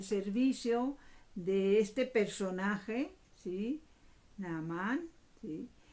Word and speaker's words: Naamán: me vaya a estar equivocando la manera como pronuncio, el nombre es Naamán.